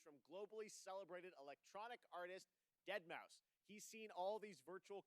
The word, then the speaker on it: deadmau5: is your good friend joel professionally known as deadmau5 yes that is the correct way to pronounce it tell your friends we're here to talk to you deadpool i use off dead male 5 is what i actually thought it was i